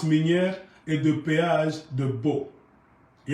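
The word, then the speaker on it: Boh: Il y a aussi le système de péage sur la route de Bo. Bo s'écrit B-O-H.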